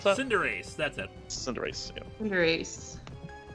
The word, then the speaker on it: Cinderace: Also, the final for Score Bunny is Cinderace, I think that's how you pronounce that? Cinderace, that's it.